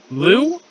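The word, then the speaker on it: Liu: Chris, how would you pronounce L-I-U? Lou? Yeah.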